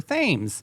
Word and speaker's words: Thames: It's spelled like Thames, Oh, but it's Thames.